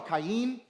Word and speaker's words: Cain: Ka Kain or caim better pronounced is the one that dealt with the produce.